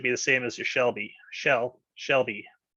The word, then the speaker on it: Shelby: the same as your shelby shell shelby they both have the same short l sound sell sell sell sell